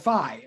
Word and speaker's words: phi: of a horizontal line that symbol is a lowercase greek letter called fee or sometimes called phi no one actually really does know how to pronounce it i mean anyway um generally i call it fee that letter i'm going